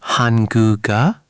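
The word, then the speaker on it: 한국어: Almost. You started to separate them. Let it flow. Hanguga. One smooth motion. Hanguga. Hanguga. There it is. Much better. See how it just glides? That's natural Korean pronunciation.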